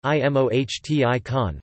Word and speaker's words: emoticon: An emoticon, I-M-O-H-T-I-con, rarely pronounced, short for emotion icon,